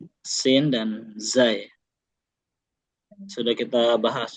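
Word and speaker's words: س: Kalau sin sebagaimana sehari-hari kita S aja, sa, si, su, ya, siti, atau S pada umumnya kayak kita di bahasa Indonesia.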